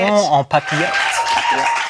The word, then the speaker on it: papillote: Saumon en papillote.